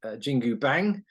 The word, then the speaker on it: Jingu Bang: Scott will be bringing his band JINGU BANG along tomorrow. In fact, so it's Wednesday today. Well done for pronouncing that correctly.